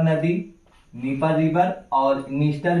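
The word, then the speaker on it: Dniester: आगे ये है आपका डेन्यूब रिवर, डेन्यूब रिवर, और यहां पे निस्टर और नीपर में जो है डी लगा के आएगा, डी साइलेंट रहेगा, तो डी लगा के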